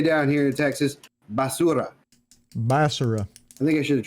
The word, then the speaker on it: basura: truly would say down here in Texas basura basara I think I should have chose no you said it right you said it right that's Spanish for trash those are Spanish word for the day basura tell your friend they're trash and they won't